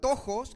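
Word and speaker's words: πτωχός: Dice que la palabra griega de pobre se pronuncia tojos, que significa describe el griego describe una describe una persona absolutamente necesitada.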